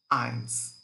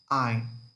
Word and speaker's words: ein: Normally, we pronounce 1 as eins, but when we conjugate, it comes just ein. We don't pronounce S. We just cut S and we pronounce ein und 20.